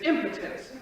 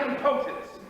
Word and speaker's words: impotence: have to discuss this you can at least pronounce it correctly it is impotence not impotence what do you